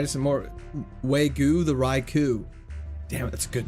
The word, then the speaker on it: Raikou: It's pronounced Raikou.